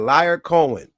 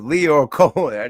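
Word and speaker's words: Lyor Cohen: That said liar Cohen. It's Leo Cohen.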